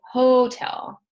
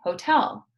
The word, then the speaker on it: hotel: We do not say hotel, right? We say hotel.